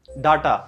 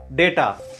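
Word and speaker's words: data: कहना चाहते हैं कि इस प्रोनाउन डेटा नोट डाटा।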